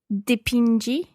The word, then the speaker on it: dipingi: Dipingi. Dipingi, that's right. You go back to the j sound of the infinitive.